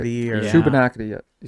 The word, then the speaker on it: Shubenacadie: Shubenacadie, yeah.